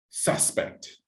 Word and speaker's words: suspect: Okay, so in this case, suspect. Suspect. This is the noun. This is the person.